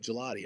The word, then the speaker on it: Galati: He's like, it's like gelato, but gelati. Oh, so Gelati, one of our amazing coaches here.